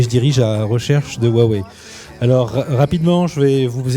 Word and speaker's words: Huawei: Alors rapidement, déjà, c'est Huawei, la prononciation, pour ceux qui sont intéressés.